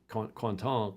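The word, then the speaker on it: Quentin: delapierre and so on quanton quanton I think it's pronounced in French but good sailor but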